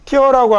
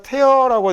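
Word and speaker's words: tear: papers 종이벽이면 찢어버리고 아 이거 저 단어는 아니고 발음이어이라고 되는 단어가 있고 요렇게 발음 기호 참 요새 잘 모르던데 이건 t입니다. 티어라고 하면 얘는 명사로 눈물, 동사로 눈물 흘리다라는 말이 되고요. 그다음 얘가 태어라고 되면 얘는 찢다라는 단어죠. 트 찢어버리다이 정도 되는 거예요.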